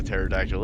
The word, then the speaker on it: pterodactyl: even know what a pterodactyl is but he said it's some crazy flying creature that they have out in chul and i asked him why he said well because the p is silent oh and that's